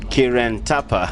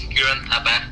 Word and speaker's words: Kiran Thapa: We have our guest on the line, Kiran Thapa. Kiran, I hope I'm saying your name right, yo. Yes, you are correct. My name is Kiran Thapa. Yeah, your pronunciation is absolutely correct.